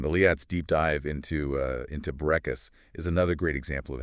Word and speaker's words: Bourekas: people how to pronounce Bourekas. I know. Her comparison to saying "boo" like a ghost, followed by Ray, like they named Renee, and finishing with Coxa, like Cassidy was pure genius.